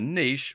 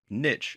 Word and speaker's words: niche: To get started and to do the same, you're going to have to choose the niche, or niche as it's sometimes pronounced, that you want to focus on.